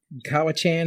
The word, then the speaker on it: Cowichan: Lake Cowichan, is that how you pronounce it? Yeah. Do you know what the population? Cowichan.